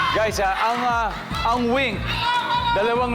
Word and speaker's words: VVINK: Ang ah ang wink. Dalawang letter V iyan. Dalawang letter V pero it's pronounced as wink.